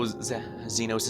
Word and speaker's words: Zenos: no zenos yeah it's supposed to be pronounced zenos would you be happier